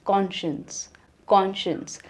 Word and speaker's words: conscience: So next word है कंसाइंस, which is pronounced as conscience.